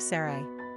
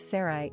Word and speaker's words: Sarai: The pronunciation of Sarai is debatable. Some say S-E-R-I-E and some say S-O-R-I-E.